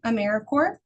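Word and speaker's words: AmeriCorps: core of the earth, apple core, peace corps. Um, it's just got um some extra letters. Uh, but I think it's always a great way to start with just knowing how to pronounce Americaore.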